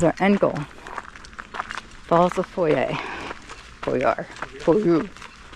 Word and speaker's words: Foyers: Falls of Foyer. Foyer. How the Scottish pronounce it.